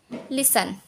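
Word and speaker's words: listen: इसको हम किस तरह से पढ़ेंगे, लिसन, ऑफन, टी साइलेंट है, ऑफ्टन नहीं पढ़ेंगे, often, Gilson, match, catch, batch.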